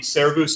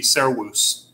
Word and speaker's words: servus: this would not be cerebus it would be sarawus because the v would be pronounced like a w but again as a